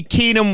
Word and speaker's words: Keenum: Keenum, yes, sir.